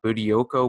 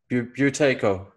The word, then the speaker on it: Buteyko: yeah the origin of how do you say boo do Co breathing Beauty Co you take it okay I've been saying it wrong for so long that's alright I definitely